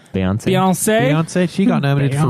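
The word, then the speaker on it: Beyoncé: Beyonce.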